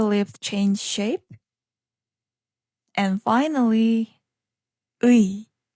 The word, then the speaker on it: 의: 의 becomes 의. Depending on the word, this sound can change a little. It's often pronounced simply as 에.